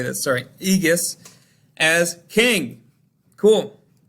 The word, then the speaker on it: Aegeus: Aegeus, as king.